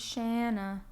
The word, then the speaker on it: Shanna: and it was like, my name is Shanna. It rhymes with banana.